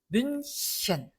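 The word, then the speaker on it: München: 뮌헨하고 우리나라 사람들이 많이 읽지만 뮌헨이 아니다. 뮌셴. 자, 요 앞에 아, 오, 우 모음이 있는 게 아니죠. 그러니까 뮌셴 하고 히 발음이 납니다.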